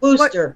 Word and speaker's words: Worcester: Worcester is the way they pronounce it.